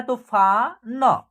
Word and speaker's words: तूफान: ठीक है, उसके बाद त में बड़ी ऊ की मात्रा है तो तू, इसका उच्चारण होगा क्या, तू। फ में आ की मात्रा है तो फा न, क्या होगा, तूफान।